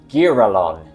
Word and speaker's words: girallon: Actually, I just checked the pronunciation on D&D Beyond - they've got the cool thing where Matt Mercer and other people do the voices - and it's "Gear-ah-lon".